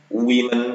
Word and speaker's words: women: Woman, women pakai E. Bacanya beda ya. Woman, single. Ini singularnya wanitanya satu. Woman. Women. Ini bacanya men, ini bacanya men.